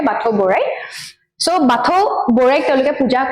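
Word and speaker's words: Bathou Borai: Eta more jitu pronunciation to bhul hobo pare Bathau Borai.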